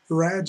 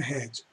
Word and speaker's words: red: R, por exemplo, red, red é cor vermelha, não é red, não é head. Head é cabeça, com H, head. Agora, red é a cor vermelha, red.